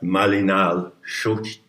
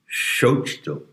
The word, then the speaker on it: Malinalxochitl: But whether you pronounce the TL in Nahua is a big issue, and it's a delicate matter. Sometimes you don't actually pronounce it, but sometimes you pronounce it as if it were a lingering whisper.